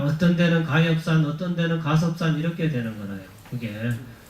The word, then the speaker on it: 가섭: 가섭은 거기서는 가엽 이렇게 적어놨잖아요. 잎사귀 엽자. 예. 근데 가섭 이렇게 해야 됩니다. 가섭이라고 읽어야 되는데 이런 게 한문이 이런 말이 불교가 어렵다 그러는 거야.